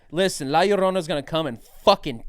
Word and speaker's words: La Llorona: La Llorona. La Llorona? Like Ma Sharona.